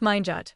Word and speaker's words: minute: There is minute pronounced mjut which means very small.